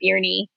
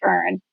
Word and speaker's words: Beirne: You know, so you would say like, "Oh, it's nice to meet you, Beernney." And I would say, "No, actually it's pronounced burn.